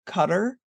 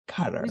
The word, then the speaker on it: Qatar: haven't heard from Qatar what you like to say Qatar i' like to say cutar she says cutter we have a disagreement in pronunciation but it seems to be International thing we haven't heard much